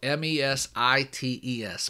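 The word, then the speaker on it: μεσίτης: It's spelled, and my Greek's not great, but it's spelled M-E-S-I-T-E-S, mesites.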